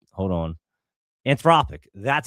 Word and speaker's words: Anthropic: Anthropic. That's how you say it. That's it. Anthropic.